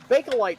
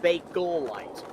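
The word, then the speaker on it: Bakelite: Uh Belite stuff. And for the And for the record, it's Bolite. Three syllables.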